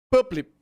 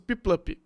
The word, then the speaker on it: Piplup: Puplip. Eu esqueci como pronunciar essa bosta. É o... Pinguinzinho. É. Pipluff. Isso, Piplup.